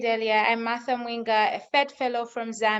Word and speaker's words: Mwinga: My name is Martha Mwinga. So you actually did pronounce the surname correctly.